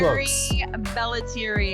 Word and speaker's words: Mary Bellettieri: So, pronounce your name for all of us as well as the name of your book. Mary Belleri.